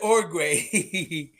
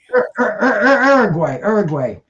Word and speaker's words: Uruguay: No, you said Orgway. Uruguay.